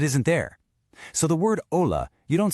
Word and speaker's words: hola: So, the H is silent, and the J sounds like an H.